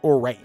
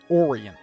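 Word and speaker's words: Oreyn: Interesting how she pronounces his name. Modin Orian. I thought it'd be like Orin. Oran.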